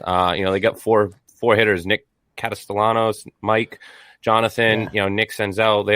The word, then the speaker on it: Castellanos: So you butchered the name a little bit there. It's Nick Castellanos, but that's all right.